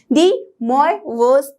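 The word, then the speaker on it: De Moivre: यस, तो ये बोलने में थोड़ा डिफरेंट है बट एक्चुअली ये फ्रेंच नाम है, इसलिए हम इसे इस तरह से प्रोनाउंस करते हैं, डी मोइवोस थ्योरम।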